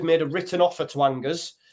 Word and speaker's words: Angers: So it says, we have made a written offer to Angers, or Angers, if you want pronunciation, estimated at about 25 million euros for Azzedine Unahi.